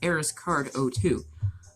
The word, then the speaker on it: ARIZCARD02: And for Twitch, it's ARIZCARD02. It's pronounced ArisCard02.